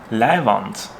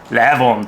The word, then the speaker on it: Leihwand: your Hochdeutsch really good, you might think, are you just mispronouncing Leinwand? No, I'm not saying canvas, I'm saying Leihwand. And if you really want to get in there, Leihwand, this is Leihwand.